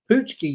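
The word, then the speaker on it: pączki: will say those are those are poochki you say is that how you say it poochki punki punki yeah like that's crazy because none of those letters are in that word but okay I mean some of those letters are in that word not many for people that don't know punchki is spelled p a c z Ki yeah in in uh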